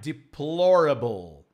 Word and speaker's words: deplorable: similar to Portuguese but the pronunciation is very different all right deplorable not deplorable deplorable such deplorable items in